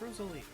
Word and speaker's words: Rosalie: It's Rosalie.